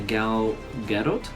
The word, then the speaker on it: Gal Gadot: is in it and that's played by a gal gadot I think that's how you pronounce her name and yeah she did a